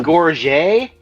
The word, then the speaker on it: gorget: It's called it's called a gorget, I believe is the pronunciation.